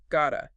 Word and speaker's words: gotta: The power phrase Gotta, as in got to or have to, pronounced G-A-H-2.